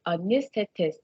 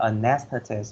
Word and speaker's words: anesthetist: chỗ nó đọc là anesthetist, thì cái chữ đó nó có đúng thầy? Okay, so for the word number one, okay, you can pronounce that anesthetist or anesthetist. It's okay, all right?